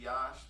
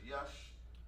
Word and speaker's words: Yash: So I say Yash, but he said, well, my family says Yush.